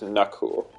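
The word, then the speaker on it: Nakul: spell n-a-k-u-l aw it's pronounced like the Indian pronunciation is knuckle but I call him the cool but uh he went to France for like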